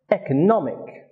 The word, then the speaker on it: economic: for example we have the word economy a noun its stress is on the second syllable when the suffix ick is added it becomes economic which is an adjective and it has stress on the third syllable economic some very common prefixes